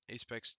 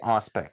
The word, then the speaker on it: Auspex: We just got done watching the Apex Tactics, right? That's how you pronounce that. Yeah, Auspex It's tactics, but yeah, the same the difference.